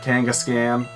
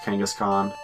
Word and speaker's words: Kangaskhan: we're going against Giovanni because he's got that Kangas cam kangaskhan I thought that oh it's pronounced kangaskhan but oh hey we already beat them because